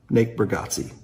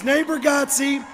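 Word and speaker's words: Nate Bargatze: Natebargatze.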